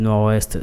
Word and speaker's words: Nord-Ouest: termine par consonne RT rsrd dernière consonne pas prononcer c'est-à-dire non d'accord que département du Nord-Ouest sont combinaison de deux mots c'est le nom